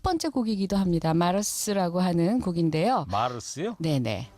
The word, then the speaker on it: Mars: 마르스라고 하는 곡인데요. 마르스요? 네네. 마스라고 읽어야 되는 거예요? 마스라고 해야죠.